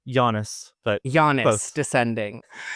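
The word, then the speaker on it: Janus: and his work on the award-winning audio drama Janice Descending. Am I pronouncing that right? Giannis.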